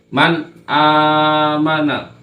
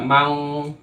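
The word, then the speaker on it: مَنْ آمَنَ: maka dibacanya izhar jelas Man amana tidak boleh dibaca Mang atau men terlalu lama enggak boleh Man amana dibaca jelas karena ada nun mati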